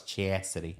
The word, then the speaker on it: Chasity: in the bathroom on my side yeah AKA chassity is that how you say it I sounded super redneck saying that chity yeah but I was chassity chassity most people don't know how to it's